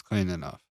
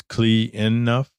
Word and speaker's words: CleanNuff: there's only two Yeah clean enough but if you actually pronounce it it's clean enough it's clean enough clean enough clean enough clean enough there's no e there's no extra N Clean enough Mr Charles